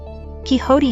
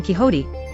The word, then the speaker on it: Quixote: In this couplet, Quixote has to be pronounced in 2 syllables, not 3, and the last 2 syllables rhyme with thin sought.